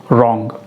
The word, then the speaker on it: wrong: तीसरी example WRONG, रॉन्ग।